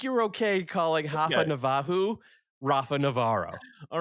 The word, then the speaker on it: Rafa Navarro: Rafa Navajo is the Brazilian Portuguese way. Okay. Of I call him Rafa Navarro.